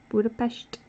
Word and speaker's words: Budapest: And I made sure to always pronounce it correctly. Budapest.